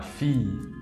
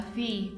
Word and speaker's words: fille: Aquí también es una I larga, ma fille. Ma fille.